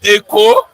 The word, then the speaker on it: Eko: You say you in Yoruba land say Eko. In Edo say Eko. Eko.